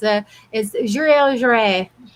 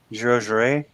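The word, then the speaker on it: Joiry: It's been forever, but it's Juré. So Yeah, what do you That think? makes sense. That makes sense. Jure.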